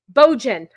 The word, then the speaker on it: Bojan: Bojan rhymes with Trojan.